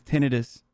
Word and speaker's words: tinnitus: out that the way the proper way to say tinnitus is tinnitus military celibacy means this